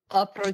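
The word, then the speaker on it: опричники: That's not how you say it. Oprichniki. I'm going to tell you, I'm going to tell you how to say it.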